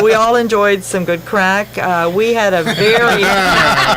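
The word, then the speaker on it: craic: Crack is spelled C-R-A-I-C, right?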